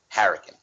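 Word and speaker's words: Hurricaneger: here like English but the way they pronounce it is like they pronounce hurricane as Harrigan you know I'm saying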